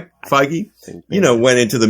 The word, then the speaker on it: Feige: first time you kevin is it figgy how do you pronounce his last name feige you know went into